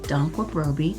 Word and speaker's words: Danquah-Brobby: as you see here my last name is spelt phonetically don qua bro b dr paula dunkwurproby to help you with uh saying my last name i have worked